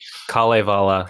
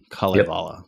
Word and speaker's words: Kalevala: So it's the Kalevala. So it's just each syllable or each two letters is its own syllable. Oh, I can do this now. Kalevala.